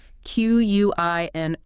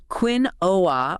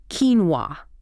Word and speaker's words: quinoa: Quinoa or quin-o, but the correct pronunciation, goose. Quinoa. Quinoa. Spelled Q-U-I-N-O-A. Where does that come from? It originates from Quechua, the language spoken in the Andes.